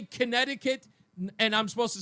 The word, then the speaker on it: Connecticut: It's not Connecticut, it's Connecticut. And I'm going to tell you where I learned that.